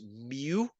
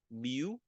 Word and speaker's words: mu: is 10 micrometer okay this this symbol is pronounced mu mu okay and it's and it stands for micrometer